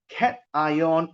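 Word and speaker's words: cation: two right you have cat ion and N ion so this one pronounced as cat ion some people they read at Kon not Kon cat ion this one pronounce as n ion all right but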